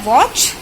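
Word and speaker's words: watch: तो आपको उसे बताना है वॉच, और TCH आपको ये बताना पड़ेगा, TCH में टी जो है वो साइलेंट है और CH, तो वॉच, स्क्रैच।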